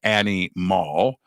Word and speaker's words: ANYmal: It's animal. It's spelled ANYMAL.